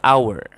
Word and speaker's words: hour: Karena bukan konsonan, bukan vokal ya, tapi pengucapannya hour. Jadi the hour, jam ya.